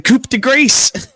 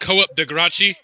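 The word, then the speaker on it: coup de grâce: Now he's going to go for the coupe to grace. Come on. Go up. It's pronounced co-op degra.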